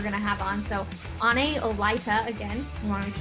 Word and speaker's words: Ane Olaeta: athletes that we're going to have on so any olyta again i want to make sure we get that one correct we've been mispronouncing it for quite some time now but